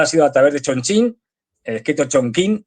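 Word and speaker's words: Chongqing: sido a través de Chonchín, escrito Chonquín. Yo sé que lo de Chonchín suena muy de coña, pero es que es así como se pronuncia.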